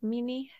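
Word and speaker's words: minni: he drank the the meanie is that how you say it mini yeah mini mini it's m i n n i and it means remembrance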